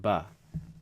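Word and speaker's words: باء: B okay this is ba that's how it's pronounced ba ba you got alif ba alif is equivalent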